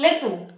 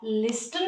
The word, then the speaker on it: listen: रखना है हमें कि हम गलती से भी उसको लिस्टन ना बोल दे because L आई एस टी ई एन में टी साइलेंट होता है मैंने आपको पहले भी बताया था कि कुछ वर्ड्स प फोकस कम करना होता है पर यहां पर टी साइलेंट रहेगा ओके सो आप उसको बोलेंगे लिसन और जो फोर्थ शब्द